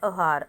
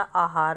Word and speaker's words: आहार: बरात उसके बाद है अहार अहार नहीं शब्द होता आहार होता है बड़े आ की साउंड होती है उसके बाद